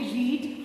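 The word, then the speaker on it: read: हैं आरई एडी रीड बट जब इसका पास्ट फॉर्म होगा तो स्पेलिंग तो सेम रहेगी that is आरई ए डी रीड only but the pronunciation the sound will change आरई ए डी रीड का past form spelling will be the same but sound will become रेड जो लाल colour वाला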